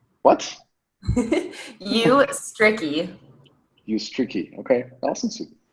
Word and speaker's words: Ustrzycki: pronounce it either, so don't worry about it. How do you say it though? Ustrzycki. What? Ustrzycki. Ustrzycki.